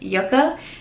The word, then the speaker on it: Yucca: to say it but yoka is how it is telling me to pronounce it so hopefully I got